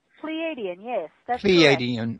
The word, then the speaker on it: Pleiadian: Okay, now was that pronunciation correct? Pleiadian, yes.